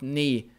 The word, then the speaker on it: ni: Så tack så mycket för att ni stöttar och hjälper mig. Men nu börjar lektionen. Och vi börjar med personliga pronomen. Ni. Ni. Och det är lång vokal betoning. Ni.